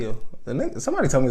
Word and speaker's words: Peele: The E is silent. Peele.